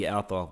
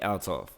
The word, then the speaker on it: Althoff: to pronounce her name I thought it was Bobby although but it's Bobby altoff I think she an